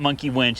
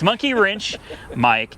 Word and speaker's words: Monkey Wrench Mike: Yeah, it's not Monkey Winch. It's Monkey Wrench Mike.